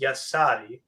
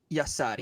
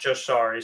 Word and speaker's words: Jashari: Apparently, it's pronounced Yasari. Yasari, not Jasari.